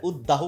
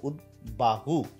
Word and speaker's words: উদ্বাহু: তো এখানে উদ্বিগ্ন, উৎ যোগ বিঘ্ন, তো উদ্বিগ্ন, এখানে উদ্বিগ্ন, তাহলে এখানে বয়ের উচ্চারণ কিন্তু হচ্ছে উদ্দাস্তু না, উদ্বাস্তু, উদ্বাহু। এখানে উদ্দাহু অনেকেই বলে থাকে, না এটা একদম উদ্দাহু না, এটা হচ্ছে উদ্বাহু।